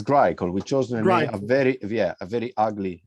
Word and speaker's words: Grycle: pronounce the name wrong so greco is that how you say it it is grey called we chose a very